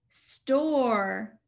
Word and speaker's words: store: Store. Notice we did not say the E sound. The E did not say its name.